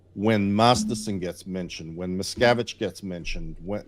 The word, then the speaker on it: Miscavige: best one is that if you say David Miscavige or you say David Miscarriage, it'll do it. But if you say David Miscavige and you say his name right, AI will still say McCabbage.